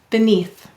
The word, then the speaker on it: beneath: We often say beneath. Why? That's right. Any vowel may say or it at the end or in an unstressed syllable. It's the lazy vowel or schwa.